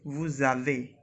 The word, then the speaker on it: vous avez: Again we will do some liaison over here, and we say vous avez. It's a z sound, like buzzing sound.